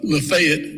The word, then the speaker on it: Lafayette: Cairo Egypt yeah and Lafayette Indiana and uh lefet Georgia and Louisville Kentucky and Lewisville